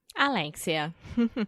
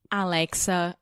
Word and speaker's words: Alexia: And today I am here with the one, the only, Alexia. Not Alexa or Alexis or Lexi. Alexia, guys.